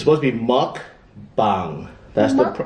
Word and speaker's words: mukbang: Mukbang or bang, or it's supposed to be mukbang. That's the right pronunciation.